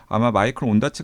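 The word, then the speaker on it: Ondaatje: 그래서 제 생각 에는 그들 이 그냥 영어 발음인 " 온다체 " 를 사용 한 것 같아 요 .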